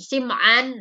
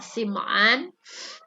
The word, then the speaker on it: Sam'an: hadis dari nawwas bin sam'an ada yang sama anda yang Simaan ada yang tadi Wah ada yang menyebut bacanya simpan ada yang samaan namun yang lebih masyhur yaitu adalah simoan Hadits ini diriwayatkan oleh